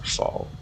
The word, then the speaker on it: Rafale: I think actually, now that I think about it, it's pronounced Rafale. Because it's French, and like half the letters are going to be useless.